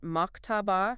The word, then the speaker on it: Maktaba: Uh, you pronounce it Maktaba, meaning library.